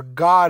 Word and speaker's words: Gad: to happen it says Gad which Gad or God is really the way it's pronounced means troop all right